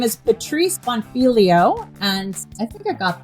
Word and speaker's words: Bonfiglio: Her name is Patrice Bonfiglio, and I think I got that last name right. Since the G is silent, I want to highlight that.